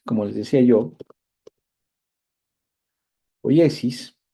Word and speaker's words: poiesis: Bien, la poiesis, como les decía yo, poiesis, también se pronuncia a veces poiesis simplemente, pero bueno, la tilde normalmente en el griego antiguo está en la, en la, en la iota.